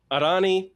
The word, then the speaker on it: Areni: So Arani that is a R ni but you pronounce it more with a kind of that open a sound with that e.